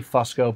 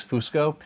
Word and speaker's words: Fusco: We say Fusco, but in Italy it's Fusco.